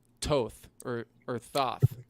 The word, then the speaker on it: Thoth: called to or or tho it's pronounced tooth or goth and he's he's the